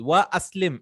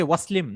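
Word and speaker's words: وَأَسْلِمْ: So aslim, if I read it, I have to put it like this: wa aslim, and accept Islam. I cannot say waslim.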